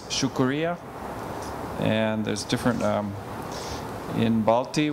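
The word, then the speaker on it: شکریہ: And then in Urdu, it's shukuriya.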